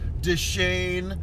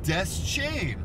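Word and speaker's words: Deschain: the way yes uh we got a from a viewer saying it's Des Shan not Des chain and I whipped out my Stephen King fuo informed and said no actually uh Fuego just listened to an audio book read by uh Ray himself Stephen King and he said it is death chain so forgive me random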